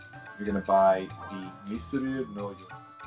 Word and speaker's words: ミスリル: Misuriru, actual Japanese pronunciation.